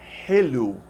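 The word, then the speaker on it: حلو: This H with a dot, this symbol I've created to pronounce this sound. It sounds like an H in help, but it's softer. You have to breathe out lots of air in a soft way.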